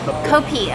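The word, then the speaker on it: kopi: and it's also pronounced copy they don't pronounce the F they use a p instead Phil is telling me behind the camera probably heard it copi okay it gets lighter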